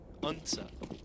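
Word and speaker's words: Odense: Unsa? I don't know. Was that close? Yeah, maybe it's better than... I got nothing. Unsa.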